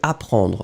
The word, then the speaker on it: apprend: first, the verb is apprendre. Remember that we'll have to conjugate apprendre in the present. Third person of the singular, so it will end with D. No S, you don't pronounce it, so il apprend, still the D should be here.